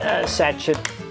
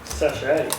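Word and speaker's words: sachet: To that, you're going to add 7 g satchet of yeast. So, pair of scissors. Do you say satchet? Sache. Sache. It's like ballet. It's like ballet. It's spelled with the T at the end.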